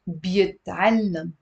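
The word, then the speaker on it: بيتعلّم: He learns is بيتعلم. بيتعلم. بيتعلم. بيتعلم. There is a shadda on the lam with a fatha.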